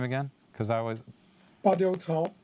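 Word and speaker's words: Badiucao: Badiou Cao. Badiou Cao.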